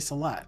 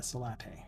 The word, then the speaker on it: Salat: Oh, it is Tomate Salat, not Salate.